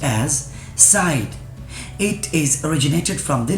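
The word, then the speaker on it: -cide: It is pronounced as Cide.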